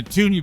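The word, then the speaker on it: toonie: with money called Looney and tuny and the tuni by the way is spelled t o o n i e I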